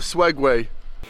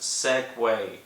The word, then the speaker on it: Segway: so for some reason they've got a swag way it's a segway it's pronounced segway you idiot someone's got a swag